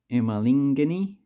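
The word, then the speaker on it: emalangeni: of the coin, so the singular is Lulangeni. Sorry, I might have said the name wrong before. The plural is Emalingeni. So there's a difference in the front of the actual pronunciation.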